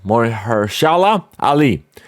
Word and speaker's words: Mahershala Ali: to star the Oscar winner how do you pronounce his name? Mahershala Ali.